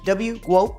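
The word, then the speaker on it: GWOAT: Yes, like goat, but W goat, yeah.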